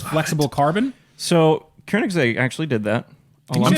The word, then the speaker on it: Koenigsegg: Koenigsegg. It's the Swedish pronunciation.